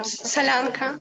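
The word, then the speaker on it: Solyanka: She was a great cook, and she made us this soup, and I think I'm pronouncing it correctly. Solonka? Solonka? Soup? Mm-hmm. Solonka, yeah. Solonka. Yeah, that's it.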